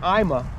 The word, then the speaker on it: AIMA: I think AIA IMA I say it wrong all the time it's IMA um and the Big